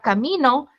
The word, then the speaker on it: camino: tienen que saber esa Dónde está la sílaba tónica que en la palabra camino camino en la sílaba mi pero en la palabra camino es en la sílaba no Entonces ese desarrollo de